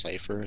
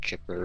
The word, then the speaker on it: Cipher: there to tell me it was pronounced Cipher so I always thought it was like chipper or something I was like how